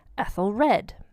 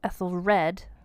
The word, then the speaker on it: Æthelred: Her husband is Æthelred.